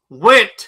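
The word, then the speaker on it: Wendt: It's W N DT. How the hell am I supposed to pronounce that? Went. Okay. Went. Like like it's the guy. It's like it's Norm from Cheers.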